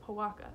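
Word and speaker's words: Pojoaque: It's pronounced Powaka. It's Spanish.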